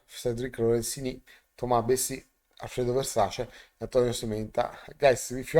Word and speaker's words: Versace: Lorenzini, Thomas Bessi, Alfredo Versace, Antonio Sementa. Guys, if you are from the United States, the right pronunciation of Alfredo is Alfredo Versace with A, not E.